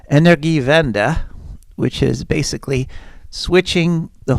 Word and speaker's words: Energiewende: So Germany's official energy policy is it's called Energiewende. Is that the correct pronunciation? Could you tell me the correct pronunciation and Of course, translate and maybe translate that phrase into English? Sure. So the pronunciation is Energiewende.